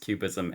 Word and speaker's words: QBism: So we have to explain to people that cubism here is with a Q for quantum. that's right. It is a deliberate nod to the art movement, but it's capital Q, capital BISM, pronounced cubism, and it has to